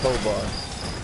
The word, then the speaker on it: Tovar: I said, my government name is Tovar, but it's pronounced Tovar. It's Spanish.